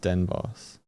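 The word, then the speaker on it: Den Bosch: It's pronounced Den Boss.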